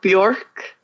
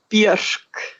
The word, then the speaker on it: Björk: So if you want to say my first name correctly, it's actually not Björk. It's Björk. Björk. Almost.